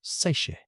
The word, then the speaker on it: seiche: This is a seiche, pronounced seiche.